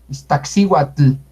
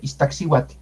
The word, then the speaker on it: Iztaccíhuatl: Iztaccíhuatl. Ahí se nota más ese tl. Es suave. Iztaccíhuatl. Sí, se capta. Iztaccíhuatl.